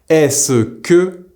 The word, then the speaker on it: est-ce que: Se becomes the single s sound. This is why est-ce que is pronounced est-ce que, and qu'est-ce que becomes qu'est-ce que. So to say what is it, qu'est-ce que c'est, we say qu'est-ce que c'est.